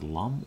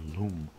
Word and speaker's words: Lum: And the character here, Lum, I'm not sure how you pronounce this, Lum or Loom, I believe it's Lum.